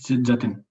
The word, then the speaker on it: Jatin: Is it Jatin? Yes, it's Jatin.